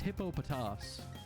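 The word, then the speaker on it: Hippopotas: remember as a kid i always had trouble pronouncing this pokemon's name but then i watched the anime and i heard its name said out loud and it's it's hippopotamus hip hop hippopotamus and the rhymnosterous shout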